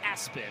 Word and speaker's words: ESPN: It's pronounced Aspen, but on his birth certificate, it's ESPN.